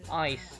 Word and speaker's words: eyes: Ingat ya pengucapannya yang betul, eyes, jangan s, eyes.